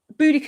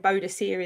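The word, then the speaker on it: Boudica: So, um, Buudaca is the British, isn't it? The British way of pronouncing it. And Bodacier is the, uh, Roman.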